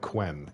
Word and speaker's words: Quen: should and also uh is it pronounced ken the one that looks like it's spelled like quen is your friend that